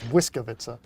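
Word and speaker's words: Błyskawica: Bliskovica? No. Yeah, I can't pronounce it. But they're saying that's Biscuit, not Bismarck. It's Wiskovica. It's almost like a W sound. It's like but Whisker.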